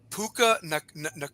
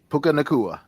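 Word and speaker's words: Puka Nacua: Um, I even see um uh is is this how you pronounce his name? Puka Nua Nua Puka Nakua for the Rams.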